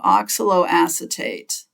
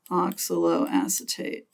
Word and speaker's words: oxaloacetate: called oxaloacetate oxaloacetate oxaloacetate when you're thinking about how to pronounce these just go very slow and kind of break it up into multiple words and my EMP my advice would be just to emphasize every syllable evenly as you're starting to